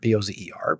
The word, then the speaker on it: Bozer: And I'm on LinkedIn with my name, Bozer, Bozer, Bozer, as you said it rightly.